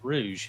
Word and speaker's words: Rouge: I I indeed said- was a rogue. Okay. You know that chick from Sonic the Bat? How do you pronounce her name? Rouge the Bat. Yeah, so it is Rouge. It's Rouge.